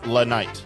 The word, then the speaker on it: LA Knight: righte we L Knight you got to say his name right it's L Knight so in continuing with